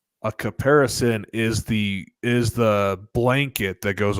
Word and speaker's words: caparison: So it's caparison. It's CAPARISON. Mm-hmm. And a caparison is, you think knight in shining armor, right? A caparison is the blanket that goes over the horse